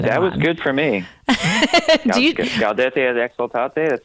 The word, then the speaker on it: Gaudete et Exsultate: Gaudete et Exsultate.